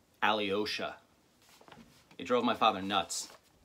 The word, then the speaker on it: Alyosha: could never pronounce it Alyosha it came out as three syllables instead of two Alyosha it drove my father